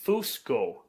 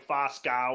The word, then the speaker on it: Fusco: Fusco. And that's a word that's in your language. Fusco. It's like a dwarven word. So he mangles the pronunciation. He's like Foscow or whatever.